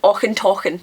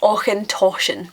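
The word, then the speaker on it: Auchentoshan: the Glasco jity the I've heard aen talken as well I've heard people consistently after me pronouncing it for them still call it aen talken but it's aen toan aen toan means corner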